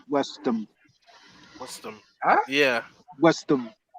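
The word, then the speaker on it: West Ham: They were like, "No, it's not the American Birmingham," and I was just like, Or another good one is "Pronounce it. instead of West Sham, it's Westham.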